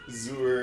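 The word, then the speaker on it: Xur: Is it Zor or Zur? What's his name? Zur? Zur. They offered I don't that know.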